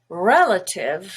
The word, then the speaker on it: relative: also schwa capital capital relative has a stress on the e the first syllable which is red relative but the a